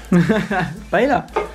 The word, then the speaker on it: paella: Paella. That's how you say it.